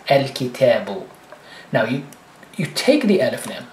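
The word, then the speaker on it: كتابٌ: two oos together, and the sound will be kitabun. So you hear that N sound at the end, that's because of the effect of these double dhamma.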